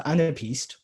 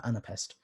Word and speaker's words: anapaest: So anapaest pronounced in British English. In American English, they take out this A, so anapest.